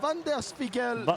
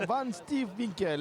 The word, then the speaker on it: Van Steelwinkel: Attention, il revient en direct avec ce ballon de Van der Spiegel. Van Steelwinkel. Ah bah merci pour la prononciation. Van Steelwinkel, exactement.